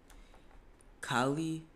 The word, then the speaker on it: Kali: Hey, but next person though, let's see what Kali, that's how you say her name.